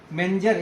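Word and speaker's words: Mentzer: दूसरा चीज होता है एक मेंटजर इंडेक्स, मेंजर। इस मेंटजर हम इसलिए बोल रहे हैं क्योंकि ताकि टी साइलेंट याद रहे, होता है मेंजर इंडेक्स।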